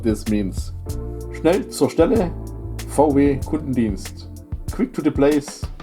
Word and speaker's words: VW: So VW is how we are pronouncing the V and the W.